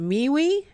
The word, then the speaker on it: MeWe: I keep saying it wrong. Is it MeWe? Yeah, MeWe. MeWe.